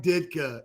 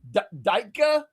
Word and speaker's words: Ditka: Ditka? Is that how you say it? Ditka, right? No, Ditka. Oh, Ditka. Good.